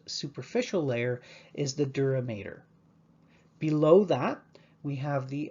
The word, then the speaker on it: mater: t in mater and it should be pronounced mater and not matter it's a common mistake mater is latin for